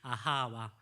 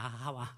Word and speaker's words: 아하와: 아하와, 하와가 아닙니다. 아하와, 그렇게 하시면 되겠어요. 하와인데 아하와.